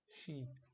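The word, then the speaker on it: し: not the same way it's not see it's she so that is one catch which you have to remember and pronounce it correctly for a brain to memorize for a brain to memorize it correctly so we pronounce pronounce it she from now on like a she in sheep she let's hear it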